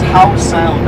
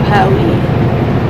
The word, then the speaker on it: Howe Sound: So I got This is Howe Sound, I think. Howe, Howe Sound. Technically Howe Sound. or do they pronounce the E and go Howie? I don't think so.